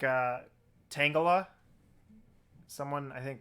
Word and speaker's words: Tangela: pronounce that like uh tangela someone i think pronounced it tangela like i don't know like angela but or maybe tangela i don't know but i always pronounce it tangela like it's tangled up but i do know